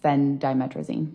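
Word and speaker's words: Phendimetrazine: Uh fen diametricine.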